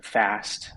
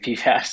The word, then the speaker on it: FAST: arch stabilizing technique, the FAST. I make the same mistake of pronouncing it PFAST. Yeah, I said PFAS all this time. It's fast. Yeah, it's fast.